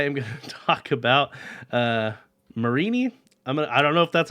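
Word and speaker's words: Mareanie: And this week I am going to talk about Marini. I don't know if that's how you actually say it, but that's what I'm going to go with. Marini and its evolution, Toxapex. Marini and Toxapex are both poison water Pokemon.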